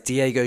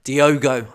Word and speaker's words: Diogo: start thinking about is Diego jota Diogo I think actually as we've been poisoned out before I've been saying it wrong uh Diego jotta has